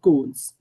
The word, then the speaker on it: koans: The aspect that intrigued me most, however, was the study of Zen koans, rhymes with Ben Cohen's.